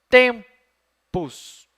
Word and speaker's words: tempus: Tempus, ou tempus. E agora? Tem duas sílabas só. A última, pus. Essa não pode ser, porque em latim, nenhuma palavra tem a última sílaba forte. Então, tem que ser a penúltima.